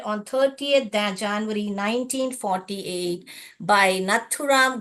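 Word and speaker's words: नाथूराम: की गई वो हत्या नथुराम गोड से नथुराम ऐसे पढ़िए ये स्पेलिंग न पढ़िए थू पढ़िए और राम पढ़िए नथु राम गोड से गॉड और से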